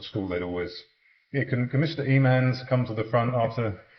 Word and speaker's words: Emmons: Is that how you say it? It's Emmons, actually. Emmons. Yeah. Emmons. Yeah, no one ever got that right.